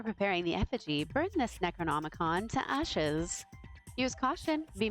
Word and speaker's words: Necronomicon: Oh, I am saying it wrong. I was saying Necronicon. I was putting consonants where in the wrong place and and imagining some consonants. You have to burn the Necronomicon in the ritual.